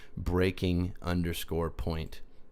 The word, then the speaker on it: breaking_point: And that's how you pronounce that, by the way. breaking_point.